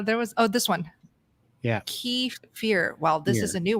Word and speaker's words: kefir: Kefir. Okay. This doesn't really help. It's definitely kefir. Kefir. Emphasis on the kefir. Thanks, Jerry. Yeah. Now there was this one. Yeah. Kefir.